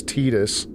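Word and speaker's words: Tidus: I'm never going to pronounce Titus's name is Tetus. Like they say they say his name is Tetus. I'm never saying Tetus. When I play that game, his name will always be Titus.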